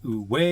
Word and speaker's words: Iko Uwais: actually says uise but from what I've looked up it is U way you're not supposed to pronounce the S so yeah I'll be